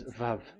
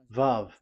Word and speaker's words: Vav: VAV. So it's V as in Vogue. So it's really V. How to read Vogue? So the word, the shape Vav is really pronounced V, like Vogue.